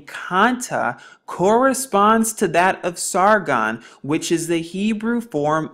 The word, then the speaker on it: Sargon: now we actually see the word sargon in scripture pronounced sargun in yahshua isaiah 20 verse 1.